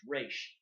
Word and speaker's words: Ra's: Like that is how you pronounce it, and they've even made jokes like, "Oh, it's normal for you to say Raj al Ghul, but it's a mispronunciation. It's Raish."